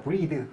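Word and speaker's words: breathe: 때 보이실 텐데요 여러분들이 단어의 발음은 브리드에요 브리드 그리고이가 안 붙은 단어는 브레슨데이 브레스는 명사구요 품사 잘 구분하셔야 되요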